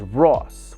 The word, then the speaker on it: Ros: My last name is Ros with 1 S. In Cambodian, it's pronounced Ro, which translated loosely, it